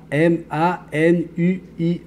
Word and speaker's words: Manuia: M-A-N-U-I-A. Mais le U se prononce en OU. Ça donne Manuia.